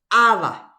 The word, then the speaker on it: ava: Heipa ava upepe ahí. Ava. Ava. Cuando no tiene el acento pintado, entonces se pronuncia sobre la última vocal.